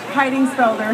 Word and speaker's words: Heidingsfelder: Mary how do you say your last name hiding speler and where are you from Mississippi